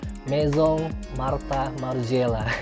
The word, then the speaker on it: Maison Martin Margiela: saya batinnya begitu mungkin kalau bahasa yang dia dialek-dialek nya Perancis mungkin dibacanya meizong Martha marzella Hei Kalian cari dengan